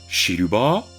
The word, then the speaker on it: Shiruba: Il introduit aussi les noms à base de couleurs, et dans ce cas, Shiruba et la prononciation japonaise de Silver, argenté donc.